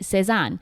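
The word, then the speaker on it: Sézane: It's called Lesan, and it's a perfume by the company Sesan, which is spelled S E Z A N E. Sison is actually a clothing store and it sells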